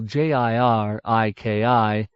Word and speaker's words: Jiriki: When the first vowel pronounced I, as in clip. When later in word, especially at end, pronounced E, as in fleet. Capital JIRIKI, Jiriki.